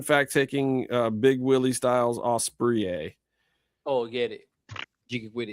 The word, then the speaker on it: Ospreay: So I am going to pick William Ospreay. Ospreay? Yeah, because it's not spelled like an actual osprey. It's spelled like Ospreay.